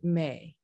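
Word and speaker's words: Meh: intone the vowel sound Me. It's spelled M-E-H, but it's pronounced like the month of May.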